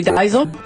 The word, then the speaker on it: Diesel: It's actually Diesel, and it's German, and Keri's half German. So it's Diesel.